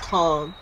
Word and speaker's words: Billy Kane: Billy Kane. It is pronounced Kong, but it's spelled Kane.